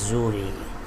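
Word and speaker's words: Xury: it as suri because whenever x comes at the beginning of any english word it becomes z sound not execute but it is zhuri and together they escape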